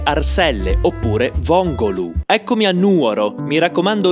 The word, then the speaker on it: Nuoro: Eccomi a Nuoro. Mi raccomando, non sbagliate pronuncia, l'accento va sempre sulla N.